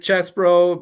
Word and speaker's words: Chesbro: Chesbro, pronounced chess as chesty puller and bro as in you bro.